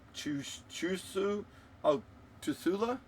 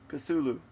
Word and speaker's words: Cthulhu: Is that a screwed up chu tula? Cthulhu.